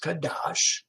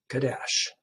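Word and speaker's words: קדש: word that they use, kadash. Again, the same word that they used here, I believe. Uh, did I say kadash? Kadesh. Kadesh. Here is the word here pronounced Kadesh.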